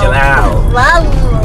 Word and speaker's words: Jalal: My name is Jalal. Jalal? Jalal. Jalal. You gotta stick your tongue out when you say Jalal. There you go. Put some extra syllables on Jalal.